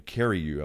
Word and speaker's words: Carreyrou: The guy who did the story in the Wall Street Journal, John, I'm mispronouncing his name, Carreyrou, I believe.